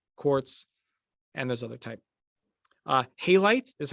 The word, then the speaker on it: halite: Halite is how you say that next word.